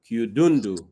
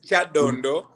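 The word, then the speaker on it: Kyadondo: That No, the name is Chadondo, but you Yeah, pronounce it in a very interesting way.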